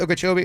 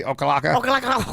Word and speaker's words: Okeechobee: I think it's Okeechobee. Okalaka.